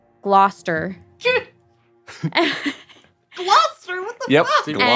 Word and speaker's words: Gloucester: If you do not have an accent from Mass, it would be pronounced Gloucester.